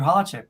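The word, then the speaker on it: Holecek: this first thing I must ask am I pronouncing your last name correctly Andrew hardship perfect good okay I always like to get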